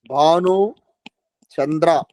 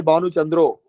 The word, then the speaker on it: Bhanu Chandra: Bhanu Chandra. You people say Bhanu Chandro. Some change will be there in name pronunciation.